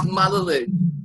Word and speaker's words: Mallalieu: So it's Mallalieu, French ancestors.